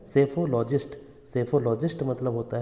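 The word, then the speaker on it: psephologist: रुझानों का अध्ययन करता है उसे बोलते हैं सेफोलॉजिस्ट सेफोलॉजिस्ट मतलब होता है चुनाव विश्लेषक सेफोलॉजिस्ट की स्पेलिंग है पी एस ई पी एच ओ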